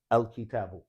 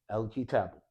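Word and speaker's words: الكتاب: When it's beginning the sentence, you say al kitabu. The hamzatul wasl is pronounced. But when it's in the middle of speech, it's no longer pronounced.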